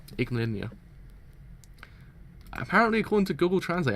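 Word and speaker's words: Yggdmillennia: Igmalinia. That's how you pronounce it. Igmalinia.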